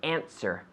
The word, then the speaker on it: answer: Answer. The W is mute. There's not answer, but answer.